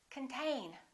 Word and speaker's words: contain: This O is reduced. Con. This syllable is stressed. Contain.